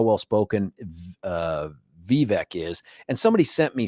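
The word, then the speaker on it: Vivek: Westminster did saying that it's pronounced v as in the letter V and VEC v e k okay I'll take that uh vivec is that he's uh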